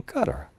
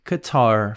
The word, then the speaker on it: Qatar: and Ecuador the system I don't know why the pronunciation is so strange and so different sometimes but I think Qatar flows better so you can choose what you prefer 12 people on the